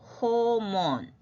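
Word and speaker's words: 訪問: 도끼 그러나 이제 방문이라는 단어는 방자가 이게 뭐예요 호몬 호몬 호 호몬 몬 그럼 이런 단어만 우리가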